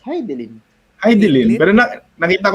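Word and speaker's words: Hidilyn: How do you pronounce her name? Kasi ang dami nag-iimbento kung paano i-pronounce yung pangalan. Di ba Ano nga Heidelin? ba? It's Heidelin.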